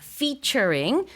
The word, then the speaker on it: featuring: 근데 영어로는 F 발음입니다. featuring 줄여서 Fat 이렇게 많이도 쓰는데 어 함께 한다는 뜻이에요.